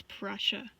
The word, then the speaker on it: Prussia: pressure pressure pressure pressure that's how you say it it's Prussia what you going what